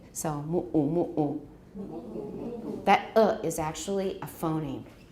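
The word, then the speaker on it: muʻu: 然后女生爱穿的那个像睡衣的长袍叫 mu'u. It's M-U, glottal stop U, M-U, glottal stop U. It's reduplicated. So mu'u.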